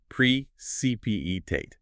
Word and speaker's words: precipitate: US pronunciation precpate.